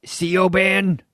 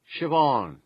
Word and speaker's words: Siobhan: wait a second you're saying your name isn't CEO band Siobhan Siobhan is Another Irish form of Joan meaning